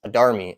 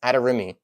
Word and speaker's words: Adarimi: Yes, it's not pronounced Adarmi. It's Adarimi. I actually know the guy